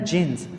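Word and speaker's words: jinn: एंड the jeans, D जे से इसे लाजमी लिखा हुआ है, डजिन हम पढ़ते हैं, लेकिन इसको जब पढ़ा जाएगा इसको जिन पढ़ा जाएगा, इसमें जो डी है वो साइलेंट होता है।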